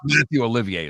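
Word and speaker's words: Mathieu Olivier: to go yeah we're gonna go and they Matthew Olivier is how you say his name is the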